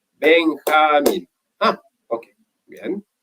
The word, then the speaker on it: Benjamín: Entonces mi profesora me enseñó, me dijo, Benjamín, tu nombre tiene 3 sílabas. Benjamín.